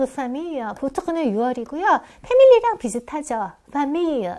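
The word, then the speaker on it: famille: 보크는 6이고 패밀리랑 비슷하죠 fam 이렇게 발음하는게 맞아요 저기 고속버스 터미널 그때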